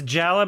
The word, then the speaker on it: Jaller: It was Jala or It's Jala, but it's spelled Jaller. It's not a hard R. It's like a soft Yeah, they had